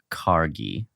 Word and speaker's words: Kargl: So directed by, I'm gonna say it's Gerald Kargl. It's an L at the end there. Oh, is it Kargl?